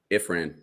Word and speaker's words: Ifran: is it ifram or imran ifran if sorry ifran if ran how do you spell that i-f-r-a-n okay if friend so he probably